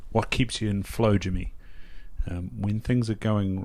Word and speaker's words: Jimi: exactly my name is jimmy my name is spelt j-i-m-i my last name is